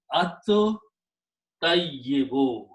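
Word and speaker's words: الطيب: Now ta is a shamsi letter. It kills the sound of lam, and you pronounce it by 2 times, so it becomes at tayyibu.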